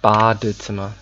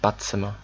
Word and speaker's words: Badezimmer: Badezimmer, nicht Badzimmer, okay? Badezimmer. Don't forget the E.